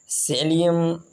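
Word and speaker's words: psyllium: सेलियम हस्क्स। भूसी को क्या कहते हैं? सेलियम हस्क्स। यहाँ पर ये जो शुरू में पी आया है, ये पी साइलेंट है, सेलियम हस्क्स।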